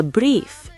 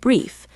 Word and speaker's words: brief: The IE sounded just like the EE in English, making it sound exactly like the English word brief.